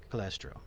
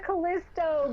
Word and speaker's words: Callisto: But I want to welcome Miss Vada Callistro. I said that wrong. Callistro. There it is. Almost had it. Correct me. Punish me. I said it wrong. Vada Callisto. Greetings. Callisto.